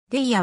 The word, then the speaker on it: Daya: ていやはアメリカの女性シンガーソングライターである英語の発音はディアに近いが日本ではレイヤまたはだやと表記される体やの両親